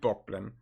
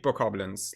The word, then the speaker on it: Bokoblin: That being said, like, some of the new enemies they have shown, like the big Bockblin, yeah, fucking German pronunciation. The big Bokoblins, like those fat fuckers with the horns.